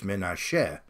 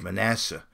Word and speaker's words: Manasseh: But in Hebrew, it's Menasheh. But in English, it's Manasseh.